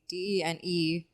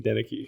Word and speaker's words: Denecke: They say Denecke. When they spell it?